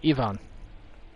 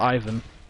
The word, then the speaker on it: Ivan: uh not igor um ivan or ivan depending on which pronunciation you want to use sorry some of